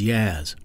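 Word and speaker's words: Yaz: colleagues and students as YZ rhymes with jazz Yas is a saxophonist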